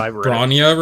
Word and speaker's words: Bronya: It's- You it's pronounce how I read it. Bronya right?